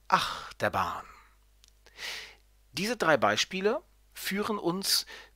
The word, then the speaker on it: Achterbahn: Und der Dreisilber wird auf die erste Silbe betont, das heißt Achterbahn.